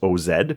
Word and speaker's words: Oz: Oz, O-Z, but he pronounced it Oz, so I wrote O-W-E-S. Every time I put in my notes so I would pronounce it properly. Okay. I was like, who calls himself Oz? It's O-Z like Oz.